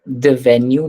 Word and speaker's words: devenu: यहाँ पे बस एक छोटा सा प्रोनाउंसिएशन में वो है द वेन्यू know द वेन्यू The venue.